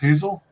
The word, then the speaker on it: Hazle: Is it pronounced Hazle?